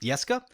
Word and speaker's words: Jeska: I assumed that it was a Scandinavian name, which means it would have been pronounced Jeska. However, it's actually of Hebrew descent, which means that the pronunciation is Jeska, the J is pronounced.